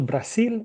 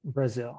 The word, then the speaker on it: Brazil: one Brazil Brazil okay in espanol Brazil in English Brazil really the difference the difference is just with the letter R Bruh Bruh and they say